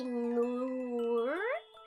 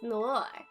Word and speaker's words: noir: So people say Noor while it's pronounced Noir at the end, while many say the first option.